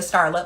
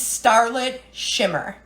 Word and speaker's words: Starlit Shimmer: read the book, The Scarlet Letter. It is starlit shimmer, okay? Starlit shimmer, not scarlet, starlit.